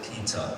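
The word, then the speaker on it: Peeta: And the reason for that was, it's actually supposed to be spelled P-I-T-A. And we found people pronouncing it Pita or Pita, and some people said Pita. So we said, you know what, let's replace that I with two E's and call it Pita.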